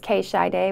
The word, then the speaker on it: K Shiday: are they do i i say k should they but it's k shy day but i say keisha because it's easier for